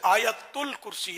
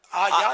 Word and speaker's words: آیت الکرسی: اچھا ویسے آیت الکرسی ہے صحیح تلفظ. اگر آیت الکرسی. زور سے بولیں. آیا نہیں آیت.